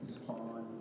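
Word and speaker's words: Spohn: How do you spell it? S-P-O-H-N. S-P-O-K. S-P-O-H-N. Spawn Ranch.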